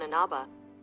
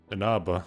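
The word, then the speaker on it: Inaba: the main character's arrival in the rural Town anaba anaba that's how you pronounce it they've been pronouncing it wrong all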